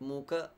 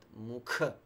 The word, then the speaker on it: mukha: or Tyrion Mucca Mucca not Mooka but mukha aspirated and bending to your